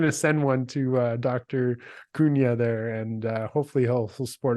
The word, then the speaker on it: Cunha: And I'm like, tell me how to pronounce it. And he's like, Cunha.